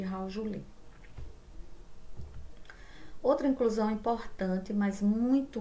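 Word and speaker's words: Howell-Jolly: Se escreve corpos de Rovel-Juli, mas se chama, né, corpos de Raujuli.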